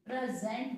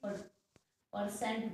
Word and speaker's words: present: आज का last word है इस वीडियो का प्रेजेंट, PRESENT, प्रेजेंट बोले ना कि परसेंट बोले, बहुत सारे बच्चे गलत प्रोनाउंस करते हैं इसको, प्रेजेंट, ज की आवाज आएगी प्रेजेंट।